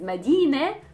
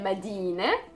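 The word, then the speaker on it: مدينة: And the next one is Medina. Medina is a city. Again, we say Medina.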